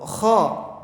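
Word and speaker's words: خ: Dan huruf kha ini berasal dari tenggorokan bagian atas. Kha. Keluar dari tenggorokan dan menebal. Akhir atau kharaja itu kha. Kalau misalkan cara pelafalannya itu kayak orang yang mau ngebuang ludah gitu. Kha. Jadi ada seperti getaran. Kha.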